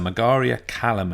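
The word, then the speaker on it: Margaria-Kalamen: that unconscious and he's wrong and bastardizing this pronunciation it's the mug Aria Callum intest the Megerian Callum ant mug Marg area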